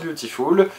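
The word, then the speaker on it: Biutiful: Oui, ça s'écrit Beautiful, ça se prononce Beautiful, c'est pas juste mon accent de merde.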